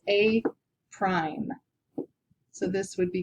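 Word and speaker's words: A′: a little uh apostrophe which we pronounce as a prime so this would be called the image here would be called a prime uh the original figure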